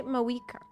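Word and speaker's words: Mavuika: They don't pronounce the V. They say Mawika.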